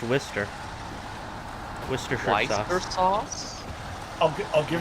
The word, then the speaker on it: Worcester: People pronounce it worchester sauce. And there's no h warster sauce. It's just pronounced wister.